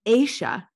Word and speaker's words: Ayesha: Ayesha.